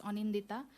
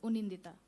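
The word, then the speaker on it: Anindita: It is supposed to be pronounced as Onindita, but it said something else, Unindita.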